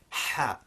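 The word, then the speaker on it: ح: It's a much sharper sound with the throat constricting and the air rushing out much quicker. Ha.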